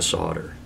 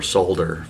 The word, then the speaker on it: solder: you can do is learn how to solder, or solder for those of you in the UK, or for most of the rest of the world. In Canada it's pronounced solder, much like the United States.